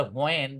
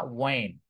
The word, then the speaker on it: when: এটা অনেকে হোয়ার বলে, হোয়ার, হোয়ার না, শব্দটা হচ্ছে ওয়্যার। অনেকে বলে হোয়েন, হোয়েন না, ওয়েন। ডাব্লিউ এবং এইচ যখন শুরুতে থাকে তখন এইচ এর উচ্চারণটা ওইভাবে হয় না, রাইট?